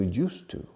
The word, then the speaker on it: used to: Remember the word Yuste, because we are going to change that word to used to.